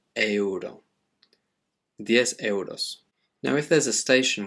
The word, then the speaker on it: euro: but just one sound in spanish you still have to pronounce each one separately the same happens with euro the currency of spain it's euro now if there's a